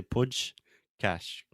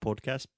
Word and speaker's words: podcast: a Hardy pod also the first vowel sound is an open ah just like Plato podcast it's not podcast but podcast podcast yeah and also the second a is the same sound in WhatsApp Snapchat is the ah so podcast okay so